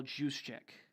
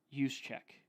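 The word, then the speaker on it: Juszczyk: and kyle uh kyle juice check use check i believe is how you pronounce that so their offense is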